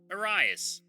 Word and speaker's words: Arias: It's pronounced Arias.